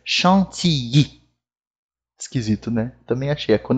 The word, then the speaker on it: chantilly: Eu mesmo, quando eu estou fazendo uma receita, estou em casa, falo chantilly. Né? Mas em francês, o LL tem o som do I. Então, a pronúncia correta aqui em francês é chantilly.